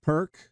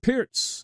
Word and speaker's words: Pirc: Often mispronounced Perk, but it's pronounced correctly. Pier, named for Vasia Pierz.